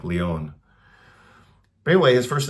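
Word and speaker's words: Léon: I guess you could pronounce it Leon if you're an American, but maybe it is. In Spanish and French, it's probably more like Leon.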